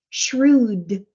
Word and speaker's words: shrewd: true true yes so when you pronounce a d at the end it brings out the shr clearly shrewd shrew shrew that's it